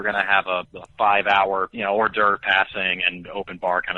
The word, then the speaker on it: hors d'oeuvre: To be certain, let's see how this word is pronounced. The hors d'oeuvre paired fresh squid with orange. The hors d'oeuvre paired fresh squid with orange.